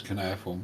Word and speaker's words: cuneiform: same word different pronunciation why are you pronouncing it not as cuneiform um because most of the people who are seriologists pronounce as can air form including Earth and Finkelstein